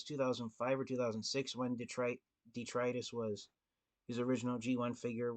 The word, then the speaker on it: Detritus: was until his legacy figure was announced anounced detrus and that's how his name is supposed to be pronounced according to the Transformers Wikipedia for years Transformers fans had incorrectly been calling him detrus is because his name name looks like it's